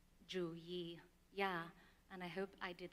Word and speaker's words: Youyee: And so her name um, in English would be pronounced Dr. U but in green mong that is Dr. Jua and I hope I did that correctly.